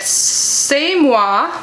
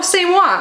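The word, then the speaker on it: C'est moi: is this packaging oh they tell you how to pronounce it at semoi oh same one okay french for it's me we create clean gentle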